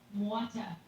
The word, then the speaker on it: Mwata: Alan Mwata Art says, Marisol didn't know you, but it's pronounced Mwata. More like mow the lawn. Alan Mwata. All right. I'll do my best to remember. Like mow the lawn, Alan Moda.